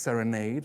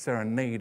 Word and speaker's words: Serenade: When the Royal Ballet first danced Serenade, and by the way, it's pronounced Serenade according to Balanchine, not Serenade.